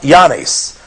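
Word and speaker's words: Oannes: And here we have the Babylonian god Yanis. That is spelled O-A-N-N-E-S.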